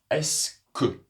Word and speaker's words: est-ce que: Quand on les met ensemble, la prononciation sera tout simplement comme un "s". "S" "que". Vous voyez ? Le "u" ici n'est pas vraiment prononcé. "Est-ce que" Tout va ?